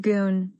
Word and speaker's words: Gun: Husband and wife co-founders Tom and Gun, pronounced Goon Denhart, started the Portland, Oregon based company by distributing imported Swedish clothing from their home.